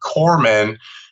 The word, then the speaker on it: corpsman: It's not, people will say corpsman, but the P is silent, so it's not corpse. Right. It's Corps, like the Army Corps of Engineers or the military Corps. So a Navy corpsman is their medical fleet, essentially.